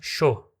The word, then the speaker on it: yo: E inclusive a palavra jo, que é eu, né? Jo, né? Io jo, é, você vai encontrar no sheísmo sendo pronunciado como sho.